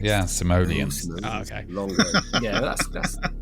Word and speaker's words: Simoleons: in The Sims and Sim City series oh simonian that's not the right pronunciation of it yeah yeah that's that's not simol correct yeah simoleons okay long yeah that's that's uh Mike and